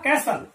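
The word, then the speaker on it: castle: तो यहां पर जो टी है कहना चाहिए, टी साइलेंट लेटर है, इसका हम प्रोनाउंसेशन यहां पर नहीं कर रहे, जैसा कि आप देख रहे हैं कैसल।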